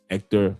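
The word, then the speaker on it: Héctor: The H is silent even in the name is ecto ectctor la right because the lao is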